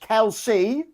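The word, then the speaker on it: Kelsae: Trenouth, do you know that the Kelsey onion, pronounced Kelsey, is from the Scottish borders, and we're very proud of it.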